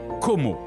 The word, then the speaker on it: Como: l'enchanteur lac de Como, que l'on prononce Como, en italien et anglais.